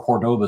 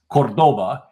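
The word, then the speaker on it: Córdoba: So Montalban, who's a native Spanish speaker, was forced to mispronounce Cordoba instead of Cordoba.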